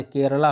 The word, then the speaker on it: केरल: केरला हो गया। इंग्लिश में जब बोलते हैं लोग केरला बोलते हैं। लेकिन जब हिंदी बोलते हैं उसे केरल ही बोलते हैं उसको।